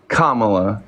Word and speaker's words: Kamala: use it is commala commala excuse me I Kamala I've just heard it so many different ways